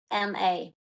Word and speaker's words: Lizama: Eugenio is like Eugenio, so EU, yeah, Genio, and then the last name is Lizama, so Lizama.